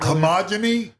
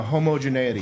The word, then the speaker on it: homogeneity: How do you say it? Homogeny? No, homogeneity. Homogeneity.